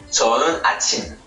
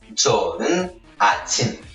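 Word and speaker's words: 좋은 아침: Puis enfin, il y a la façon très peu courante de dire bonjour, c'est 저는 아침. 저는 아침. Bien prononcé sur la dernière syllabe 침.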